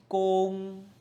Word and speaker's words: 公: The first is "gong1" "gong1" 公's meaning is public.